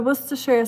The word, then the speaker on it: Worcestershire: So Worcestershire sauce. So one more syllable, Shuriken, added to yours, but you were super close. Worcester sauce, Worcester. So we just add a share, Worcestershire sauce.